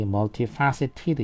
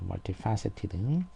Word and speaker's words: multifaceted: 넣어서 did가 되는 거고 트가 무성음이니까 트로 발음하면 트트 이렇게 되니까 그걸 피하기 위해 가지고 e를 넣어서 tid 이런 식으로 발음을 한다는 거죠. 그래서 여기 multifaceted 이렇게 된다는 거죠. multifaceted.